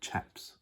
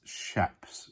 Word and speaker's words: chaps: And chaps. Oh, lovely. I actually pronounce shaps if you do it properly. Yes, I know. That's the proper way of saying it.